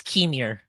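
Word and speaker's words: Qimir: In a predictable twist, a Sith was revealed to be is it Quimir? Is that how you say it? I think it's Kimir. I think it's Kimir? Kimir.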